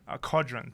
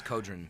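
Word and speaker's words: Qodron: Kodron? Kodron. Thank you. It's Kodron.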